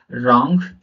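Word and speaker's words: wrong: होता है आर के पहले अगर डब्लू आ जाए तो वो साइलेंट रहेगा वो शब्द साइलेंट रहेगा कैसे रहेगा रंग राइट रप रपर रिस्ट अब यहां पर लास्ट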